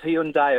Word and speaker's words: Hyundai: It's pronounced Hyundai. It always is. It's dropped the I, so it's not Hyundai. It's not Hyundai. It's Hyundai. Okay, so specific.